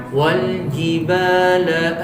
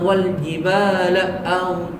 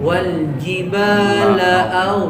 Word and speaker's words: والجبال: أعوذ بالله من الشيطان الرجيم والجبال أوتادا Wal jibala autada. والجبال أوتادا Lanya nggak boleh di koma. Wal jibala autada, gitu. والجبال أوتادا Jangan jangan begitu, jangan ditekan. Oh. Jangan wal jibala jangan begitu.